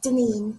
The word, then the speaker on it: Deneen: It's Deneen. So like Janine, but with a Deneen. D.